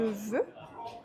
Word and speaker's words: veux: On ne prononce pas non plus le X, on dira je veux, par exemple.